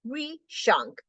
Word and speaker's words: Rishank: Pronounce it like Rishank, for I am Indian, galloping through the realms of numbers and equations with joy.